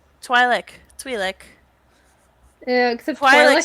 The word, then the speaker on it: Twi'lek: No, it's Twi'lek.